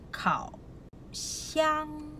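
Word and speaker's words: 烤箱: Kita panggil kau. Xiang. Kau. Xiang. K-A-O. Kau. K sebutan berangin. X-I-E-N-G ialah xiang. Sebutan X. Kita sebut S.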